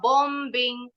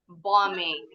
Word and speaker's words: bombing: Nah, kalau ditambahin akhiran ing, bacanya sama nih, B-nya nggak bunyi. Jadi nggak boleh bilangnya bombing, tapi bombing.